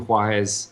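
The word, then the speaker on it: Juárez: Juarez.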